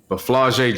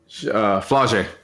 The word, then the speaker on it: Flau'jae: And then they have, I don't know if you've heard this name, if you're familiar with this name, but Flau'jae Johnson.